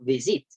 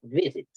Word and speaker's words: visit: El énfasis de la pronunciación en inglés, esta palabra, no, yo no digo visit, yo digo visit, ¿sí o no? Ahí el énfasis es en la primera sílaba.